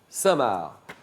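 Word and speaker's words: Cinq-Mars: avoir conspiré contre Richelieu il s'appelle saintmar ça s'écrit le chiffre 5 trait d'union mars comme mars et ça se renomce c'est bravo saintmar d'après un proverbe signifant qu'avec des hypothèses tout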